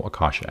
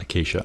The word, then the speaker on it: Acacia: ax instead of Akasha ax since there's no Akasha ax in Minecraft I hope that's pronounced Akasha Acacia Acacia it's pronounced Acacia I apologize Acacia acts whatever so then it